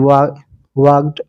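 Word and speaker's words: walked: L while he वाकड यहां पर ल साइलेंट डब्लू ए एल केई डी वाकड away A डब्लू ए वाई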